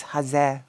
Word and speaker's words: Haze: you say it before yeah it's Hazel but it's okay it's like it's like with vaj and you know maybe that is just um the fate of Polish streamers that your name is um how you say that's how your name is pronounced is a choice I guess you know you can say hazel you can say Haze and I'm probably not gonna be mad about it at this point it's